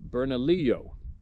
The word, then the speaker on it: Bernalillo: valley which is actually just a rural area bernalillo pronounced bernalillo county at the time now when i say